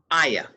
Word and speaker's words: Ayah: introduce yourself yes and let me make sure i'm pronouncing your name correctly ayanna aya aya yes yeah okay ayah uh yes uh i